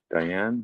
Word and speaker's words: Deanne: Deanne. Is it Deanne? How's that how you pronounce that? Deanne? Diane, yeah.